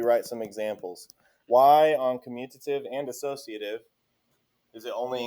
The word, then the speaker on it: commutative: It is most commonly mispronounced commutative, but it is not commutative.